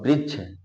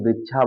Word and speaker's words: वृक्ष: से अलग हुआ और वृक्ष अब यहां से देखें वृक्षा बोलेंगे तो आप अशुद्ध होगा यहां अगर वृक्ष बोलेंगे क्या बोलेंगे वृक्ष यहां देखें वृक्ष अब